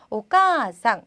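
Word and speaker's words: おかあさん: 오바상, 그다음 오까상, 그래서 카에다가 그러니까 아단에다가 아를 붙였더니 자, 오까상 길게 발음이 되었습니다.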